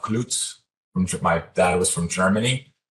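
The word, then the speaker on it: Kluetz: I'm going to try to pronounce my own name in a European way. I'm Klutz.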